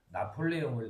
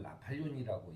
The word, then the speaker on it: 나폴레옹: 우리가 나폴레옹을 나팔륜이라고 얘기하지 않듯이 또 그런 거잖아요.